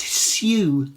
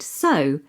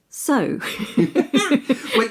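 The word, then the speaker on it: sew: it should be pronounced su it does but the simple fact of the matter is we pronounce it so just like so I know what it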